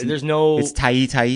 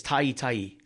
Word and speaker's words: Ta'ita'i: We need to talk to Jed about this, because Jed is Tai. And it's Ta'ita'i. It's Ta'ita'i Uiagalelei.